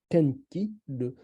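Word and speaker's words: 天気: Par exemple, quand on dit le tenki, on prononce au Japon tenki, ça veut dire que le souffle de ciel.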